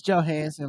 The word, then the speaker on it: Johansson: last name up Maran it's Johansson Like Scarlett Johansson okay okay cuz I